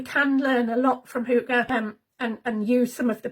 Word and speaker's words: hygge: And yes, hygge is surprisingly how you say it.